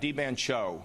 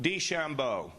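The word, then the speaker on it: DeChambeau: de help me out D Bano uh I don't think that's the right way to say it Shambo D Shambo okay and I read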